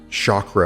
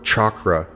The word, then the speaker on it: chakra: Side note, there are actually multiple ways to pronounce chakra or chakra, and each of those pronunciations are valid.